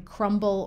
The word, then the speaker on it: crumble: comb thumb or crumb however if you take one of these words and add a suffix to it the B generally is not silent anymore like in crumble or thimble likewise when you have